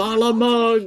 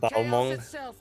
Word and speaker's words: Balmung: When using Balamug!